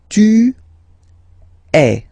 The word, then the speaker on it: tu es: And for tu, then you've got this combination of letters, okay, but then basically the sound you will pronounce or you will produce is est, okay.